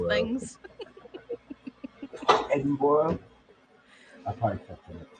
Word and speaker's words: Edinburgh: cracks me up because nobody can ever say the word Edinburgh properly. It's like Edinburgh or Edinburgh or Edinburgh. It's like no, it's none of those things. Edinburgh.